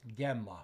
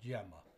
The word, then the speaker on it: Gemma: In Italian, it's pronounced Gemma, not Gemma.